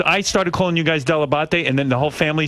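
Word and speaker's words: Dell'Abate: delebate no my friend my father always called himself delabot delebate and he said that he just americanized it but della batte is in fact the proper pronunciation so when did your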